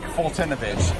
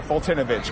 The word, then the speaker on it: Foltynewicz: If you can spell Mike Fultinovich in the next 5 seconds, I will buy you a beer right now.